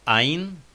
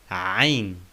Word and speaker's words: عين: عين, not عين, but عين.